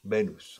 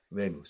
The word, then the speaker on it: Venus: Because people in Spanish say Venus. Casi como una B. Venus.